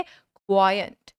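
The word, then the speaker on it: quaint: कैसे प्रोनाउंस करेंगे इस वर्ड को? इस वर्ड को बोलेंगे क्वायंट, क्वायंट, क्वायंट।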